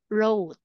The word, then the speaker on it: wrote: I want you to repeat wrot wr Okay This is silent w okay now What about